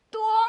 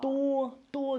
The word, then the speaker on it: 多: 多 mean no. Oh. 多 Oh, this little door from Domino, it sounds the same.